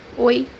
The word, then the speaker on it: oi: First pronunciation is the entire O. The example that we have here is the word hi, which means in Portuguese oi, oi, As you see, we say O, oi, entire O.